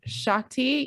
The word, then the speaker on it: Shakti: licensed in neuromuscular massage therapy reiki um shy shakti am i pronouncing that right shakti yep so somatic processing as well as efr